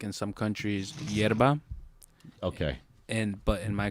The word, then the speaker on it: yerba: and y's different okay we pronounce them like uh we would sh so instead of yerba would be sherba sherba yeah and um